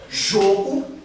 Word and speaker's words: jogo: O jogo aqui, ó, é um ozinho mais fechado. Jogo, eu jogo futebol, vou ao jogo. Então, ó, fechado, ó, aberto.